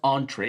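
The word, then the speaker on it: entrée: So language it's also yes it's like entry actually but because it's originally came from French it's a French word so it's pronounced entree even though it's written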